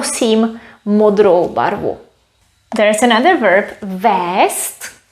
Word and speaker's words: vézt: modero there's another verb vest we spell it with zet we pronounce it with s vest means to take something